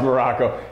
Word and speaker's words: Maroko: just kidding with Alex Morocco pronounced just like the country spelled absolutely nothing like it now look talked about